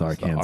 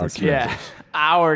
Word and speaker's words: Arkansas: So Colorado and Arkansas are the only two that call it the Arkansas River. And then us in the middle of the two, we're like, "No, bro. It's our Kansas."